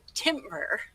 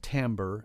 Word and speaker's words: timbre: still say it wrong i still say timber and it's not about cutting down trees so instead of timber timber and but a lot of folks say timber and it's fine it's but it's it's timbre and timber would be the er at the end of the word and we spell it